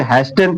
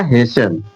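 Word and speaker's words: hasten: लेकिन जब अगर रूल पता रहेगा तो हमें पता रहेगा इसे क्या पढ़ा जाएगा? हेशन हसन हसन क्योंकि टी साइलेंट रहेगा क्योंकि लास्ट में टी इ एन टेन है ना तो टी उसमें साइलेंट हो जाता है।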